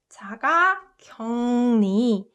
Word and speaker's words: 자가격리: And the way I pronounced it, if you noticed, is 자가격리. So uk and 르, 응. If you pronounce it fast, this uk also softens to ung sound.